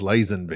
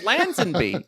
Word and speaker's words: Lazenby: Isn't that like Lazenby? I think it's Lazenby. Lansbury? That's Angela's husband. It was. He You're was the one right. order- It's Lazenby.